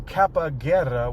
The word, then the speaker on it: Kappa Guerra: And so I've been saying Kappa Guerra, which rhymes with capoeira.